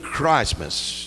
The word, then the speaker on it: Christmas: We know the true meaning of Christmas. Notice how I pronounce it with the T in it.